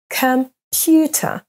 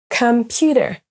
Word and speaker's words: computer: mots à l'écran maintenant sont accentués sur la deuxème syllabe am amazing Bana le mot banan s'accentue sur la deuxième syllable B et on a la même chose pour computer computer pour corriger votre prononciation